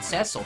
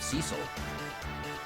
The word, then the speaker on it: Cecil: they were young actually really just pronounced it cesil from from the Geto instead of Cecil um you know cuz